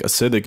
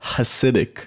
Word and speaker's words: Hasidic: know i'm correct well i definitely think acidic jews can fly i said it's pronounced hasidic certus corrected me believe